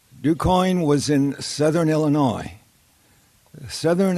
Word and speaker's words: DuQuoin: And it was a hayride in this little town in southern Illinois, DuQuoin, Illinois. Now that's spelled D-U-Q-U-O-I-N.